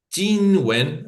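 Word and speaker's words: 金文: Hay una evolución entre el siglo XIII y el cuarto, antes todavía de la era común, aparece los Qinwen, ¿sí? Eh, Qinwen, ahí mejor pronunciado, que es la escritura en bronce.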